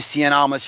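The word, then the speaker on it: Cien Almas: need to watch this match Gargano and Andrade Cen alas yes I will say his name correctly because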